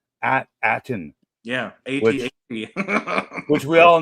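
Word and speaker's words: At Attin: a t a t i n the planet pronounce at Aton is it does it have I guess it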